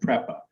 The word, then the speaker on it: PREPA: me on the name the utility is called prepa p-r-e-p-a Puerto Rico Electric Power Authority in Spanish